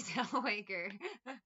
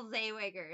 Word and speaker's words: Zellweger: would always say Renee Zellweger I know that's her name the one time I'm trying to say it wrong I say it right now zaywiger is what I would always say there is something they